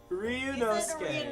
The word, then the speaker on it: Ryunosuke: Ryunosuke! Ryunosuke. Ryunosuke. I'll see you in the courtroom. Gosh, his name is so hard to remember. Think Inosuke from Demon Slayer and Ryu from Street Fighter.